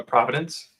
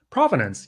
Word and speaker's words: provenance: A providence. Provenance. Yeah, that's right. I think I'm saying it wrong. Providence, but provenance.